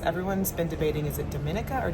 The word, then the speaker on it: Dominica: Yes, everyone's been debating is it Dominica or Dominica, but it is actually pronounced Dominica.